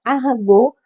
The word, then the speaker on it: Arago: o texto de um espírito chamado Arago, em português, na grafia, mas na pronúncia Arago, porque era um francês, e ele vai falar